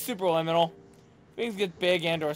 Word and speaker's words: Superliminal: keep saying super liminal what's up it's not subliminal what are you talking about it's is it super it's super liminal it's literally super liminal yeah oh okay i